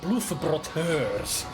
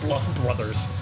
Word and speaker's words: Bluff Brot Hörs: And that's how they even pronounced the name. Bluff Brot Hörs. Not the Bluff Brothers.